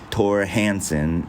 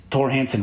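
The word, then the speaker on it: Thor Hanson: I've heard his name pronounced different ways, but it's spelled like Thor, but it's like Thor, but I think it's pronounced Tor. Anyway, Tor Hansen is this guy's name, and he has a book.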